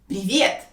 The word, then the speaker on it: привет: And in this case, we will say привет. Привет. This word is equal to the English word hi. And this word is very easy to pronounce. It only has 2 syllables and the second one is stressed.